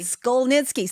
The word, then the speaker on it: Szkolnicki: me your last name again I'm afraid skitzki Skol nitzki see I can say it after she says